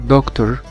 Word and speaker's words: doctor: حرف ال C في كلمة doctor. doctor بتتنطق على اساس ان هي حرف كي، فهنا السي موجودة في كلمة دكتور بتتنطق على اساس ان هي حرف الكي فبنقول دكتور.